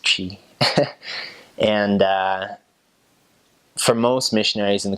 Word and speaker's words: Twi: local dialect that's called Qi Twi but it's pronounced Qi and foremost missionaries in the quantity mission they'll